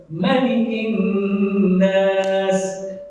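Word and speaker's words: مَلِكِ النَّاسِ: Qul a'udzu birabbin nas, Malikin salah. Kenapa? Enggak ada riwayat yang menjelaskan tentang ma-nya panjang. Yang betul, Qul a'udzu birabbin nas, Malikin nas.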